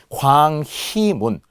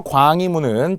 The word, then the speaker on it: 광희문: 자, 그럴 때 광희, 발음으로 보면은 희라고 발음해야 된다는 거예요. 왜? 자음 플러스 의니까 희망 희떡다처럼. 그런데 희라고 적지 않아야 돼요. 만약 희라고 적으면은 HI라고 적겠죠. 근데 이렇게 적지 않는다. 발음은 희가 되더라도 표기는 무조건 UI로만 적어야 합니다.